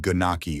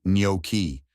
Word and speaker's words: gnocchi: The spelling might trick you into saying guh-nok-ee or nock-ee, but the correct pronunciation is actually NYOH-kee. Let's break it down. Nyo, like the beginning of New York, and key, like the word key.